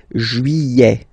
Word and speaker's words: juillet: Okay, you get this double L here. Juillet. Don't pronounce this final T, E-T here at the end. Juillet.